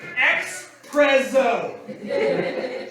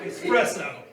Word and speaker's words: espresso: i don't like espresso so i pronounce it like a like a good american expresso like it's like it's spelled x hyphen p r e double z oh espresso so because yeah all